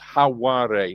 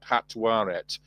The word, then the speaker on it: Hatwaret: a feminine ending, and it's not pronounced unless you have a vowel in the next word. So, it would actually pronounced Hawaret, not Hatwaret, because the T's are dropped.